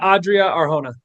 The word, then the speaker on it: Adria Arjona: I will I I'm not sure if I'm pronouncing it right, but is it Adria? Adria and Dakota. Adria Arona.